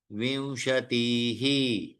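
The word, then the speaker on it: विंशतिः: दश दश दश विमशतिह विंशतिह त्रशत अब देखिए विशतिह विसर्ग आया ना इसलिए तीह लेकिन त्रिशत में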